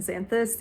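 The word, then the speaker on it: Xanthus: I swear to God if it's pronounced balos I'm going to freaking jump off the same Cliff test ited I finally looked it up apparently it's pronounced balas and zanthus even though it's like with an O time to follow rule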